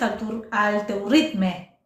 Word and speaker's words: al teu ritme: teuritma, pero también es al teuritme, ¿verdad? Al teu ritme se escribe en catalán porque es en catalán, Es en pero catalán. se pronuncia al teu ritme, sí.